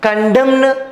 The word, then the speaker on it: condemn: Okay, so autumn N is silent and condemn N is silent. Okay, but here we are not pronouncing autumn condemn అని మనం pronounce చేయట్లేం, but spelling రాసేటప్పుడు మాత్రం N అనేది రాస్తున్నాం.